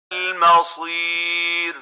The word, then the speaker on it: المصير: This is not Masir. Masir is a totally different word with a different meaning. This is Al-Masir. So the right way of pronouncing this is المصير Masir, not Masir.